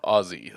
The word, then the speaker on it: Aussie: is that is that aussie and they said she said that they pronounced it more as though as they're saying ozzy like ozzy well they pronounce their s like ozzy osbourne there's like different letters